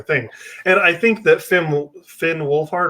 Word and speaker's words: Finn Wolfhard: And I think that Finn Wolfhard, right?